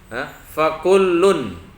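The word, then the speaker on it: فكلٌّ: Fakullun. Fakullun, bukan kullu, awas.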